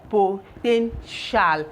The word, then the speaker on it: potential: So this is put together, potential. This is pronounced as shall.